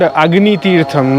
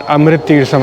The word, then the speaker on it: Agni Teertham: And it's called Agni Teertham, not Amrit Teertham. I think I mispronounced it in the previous clip.